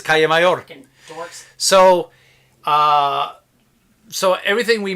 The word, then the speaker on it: Calle Mayor: Everyone calls it Cali Mayor. It's Calle Mayor. It is Calle Mayor.